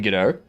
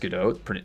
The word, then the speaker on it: Godot: Outside of Australia, it's not pronounced Godot. It's pronounced Godot. Actually, no. So, the name comes from the French play Waiting for Godot. So, it's based on the name Godot.